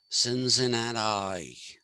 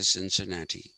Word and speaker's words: Cincinnati: the east coast and thank god they don't say since in an eye okay they actually say cincinnati okay uh so cincinnati